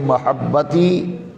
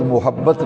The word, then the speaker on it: محبت: بات کرتے ہیں تو کہتے ہیں محبت، میم پہ پیش پڑھتے ہیں، یہ تلفظ غلط ہے، پروننسیشن غلط ہے۔ لفظ محبت نہیں ہے، میم پہ زبر ہے، محبت۔ یہ پنجابی اردو میں